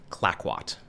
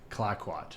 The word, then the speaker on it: Clayoquot: that, one in the East Coast and now Clayoquot. How do you say it? Clayoquot. Clayoquot. Yeah. It's, I think I butchered that in your intro.